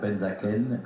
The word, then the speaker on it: Benzaquen: noir du club de boisar exactement à Cyr benzakenen comment vous le prononcez Benzaken Benzaken qui nous vient de Châtillon